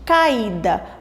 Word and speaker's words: caída: Se nós falarmos pausadamente caída, vamos perceber qual é a sílaba que sai mais forte? Caída. Vocês podem perceber que o i ela sai um pouco mais forte da nossa boca.